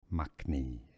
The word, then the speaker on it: makhni: Makhni is how we pronounce the Makhni, second word.